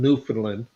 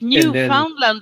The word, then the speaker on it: Newfoundland: nautical it's so funny we call it new foundland over here so we pronounce it wrong no they're they see the canadians like newfoundland because they call them